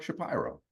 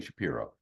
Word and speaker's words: Shapiro: so I'm like hey you're you're Mark Shapiro and he was like thank you for not saying Shapiro um because he made up that pronunciation like it's BS I don't know what his issue is but whatever uh so